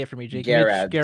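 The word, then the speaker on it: Gerads: Garads. Mitch Geralds?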